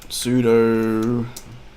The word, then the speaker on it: sudo: Sudo reboot now.